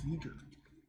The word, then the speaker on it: Giger: Giger. I like saying Geiger though, so that's how I'm going to pronounce it, even though I'm pretty sure it's Giger.